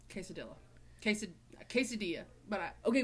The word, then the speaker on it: quesadilla: she goes nope it's the same double l it's the same spanish tortillas tortilla and quesadilla quesadilla that's how you say it quesadilla quesad quesadilla but i